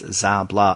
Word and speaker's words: Szabla: website uh she even tells you how to pronounce her name so it's zablah oh by the way we didn't even mention